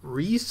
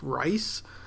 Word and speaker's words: Reis: is some good stuff his name is rod Reese I think or might be pronounced rice but this is some